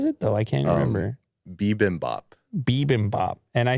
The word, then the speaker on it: bibimbap: it what was it though i can't remember bibimbap bibimbap and i said bimbap or something yeah i said i said uh